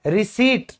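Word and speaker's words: receipt: और ये एक्सेप्शंस हैं, यहां पे भी पी साइलेंट होगा। रासबरी, रासबरी, ठीक है, रिसीट, रिसीट, और कबर्ड, कबर्ड, और कूब, कूब, ये भी साइलेंट होगा।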